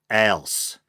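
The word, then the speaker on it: Alse: to the site that it's supposed to be pronounced else so soft s the e is silent so i probably should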